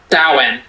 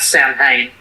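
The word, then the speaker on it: Samhain: Sin. Sin. At least according to Dick of Shadow, it's actually pronounced sin, not Sam Hayne.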